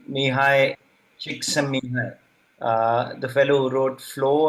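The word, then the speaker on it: Mihaly Csikszentmihalyi: I'm reminded of this book by, it's a difficult to pronounce name, Mihai Csikszentmihalyi, the fellow who wrote Flow and then Creativity, which is a brilliant book.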